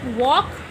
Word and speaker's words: walk: Walk, L silent.